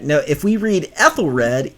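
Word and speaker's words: Ethelred: now if we read ethyl red e-t-h-e-l-r-e-d eight letters three syllables ethyl red it's exactly parallel to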